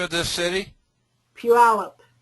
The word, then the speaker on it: Puyallup: And when they got done with the 2 individuals, since they were employees of the city of Puyallup, the IRS went after the city of Puyallup.